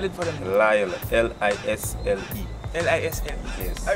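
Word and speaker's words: Lisle: You're saying Lyle. And spell it for them. Lyle, L-I-S-L-E.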